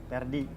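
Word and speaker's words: Ferdi: Pakai P pakai F. Pakai F. Iya. Dibacanya Perdi.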